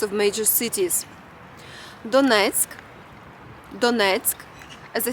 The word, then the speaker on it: Donetsk: Using Google Maps, let's see the geography of this region and also learn how to pronounce the names of major cities. Donetsk, as I said, is the unofficial capital of Donbas and fifth largest city in Ukraine.